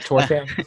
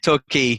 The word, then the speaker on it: Torquay: Did I pronounce it right? Torquay? You did not. Sorry. Torquay. So yeah, Torquay's a coastal town, so there's a beach there, but the beach isn't amazing.